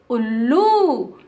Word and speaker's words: उल्लू: and pronunciation will be ullu. First letter fast we are saying and second letter little slow we are saying, ullu.